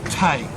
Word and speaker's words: Teague: both Thady and Teague, pronounced Taig, T-A-Y-G. That's how you would spell it phonetically.